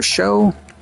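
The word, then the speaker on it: Shough: was Wake Forest Justin Cody and Louisville's Tyler show that's how you say his name American it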